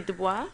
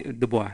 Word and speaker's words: Du Bois: Du Bois. Yes. Did I say his name properly? Du Bois.